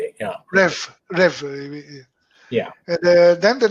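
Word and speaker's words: REWE: number three will be raway how do you spell that r e w e yeah rev rev yeah and then the number that will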